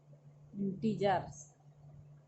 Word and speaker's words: integers: इंटीजर्स, हम गलत pronunciation कर रहे थे, तो कहा जाता है इंटीजर्स।